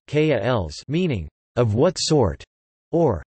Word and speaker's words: qualis: The term qualia derives from the Latin neuter plural form qualia of the Latin adjective qualis, Latin pronunciation, kals, meaning of what sort or of what kind.